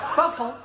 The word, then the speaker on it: buffalo: Yeah, words that end in O, like buffalo or radio or vertigo, you pronounce the O, but where there is no O, you don't add one, understand?